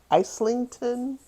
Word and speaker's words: Islington: is called the uh isington jumper i s l i n g t o n or Islington jumper um and I'll